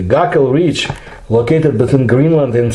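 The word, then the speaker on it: Gakkel: of the arctic called the guckel ridge and that's the russian pronunciation the gakul reach located between greenland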